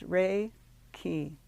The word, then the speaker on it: Reiki: where Hands-On healing starts Reiki is pronounced Ray key the ray meaning Universal Divine Life Energy and key meaning life force thus Reiki is a spiritually guided life force energy while raiki is spiritual in nature